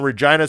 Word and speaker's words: Regina: Friday, April 27th, to the city that rhymes with fun, Regina, Saskatchewan, to check out HIW Canada's Spring Meltdown.